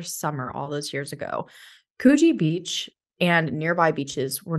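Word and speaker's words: Coogee: rough one for beachgoers in the suburb of kuji now took me a while to figure out how to pronounce that it's about c-o-o-g-e-e and I was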